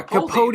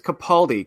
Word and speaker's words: Capaldi: Peter Capaldi yes yeah capot is it no it's Capaldi capot is not that's capot died of